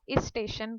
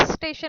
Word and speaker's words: स्टेशन: तो इस स्टेशन नहीं होता है, करेक्ट प्रोनाउंसिएशन क्या होता है, स्टेशन होता है।